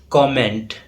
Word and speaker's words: comment: Yes, there is O sound in its pronunciation. The correct pronunciation is comment, often mispronounced as comment.